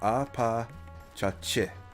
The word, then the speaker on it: Apachachi: That is pronounced Apachachi, not chi, chi. Chi, eh.